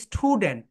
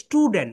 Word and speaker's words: student: বলো আম 7, তোমরা তোমাদের বয়সটা বসিয়ে দাও, আম 7, আমার স্টুডেন্ট, আমার স্টুডেন্ট, অনেকেই তোমরা এখানে বলো স্টুডেন্ট, কিন্তু রাইট প্রোনাউন্সিয়েশন হবে স্টুডেন্ট, বলো ইস, বলো ইস স্টুডেন্ট, স্টুডেন্ট, বলো এরকম করো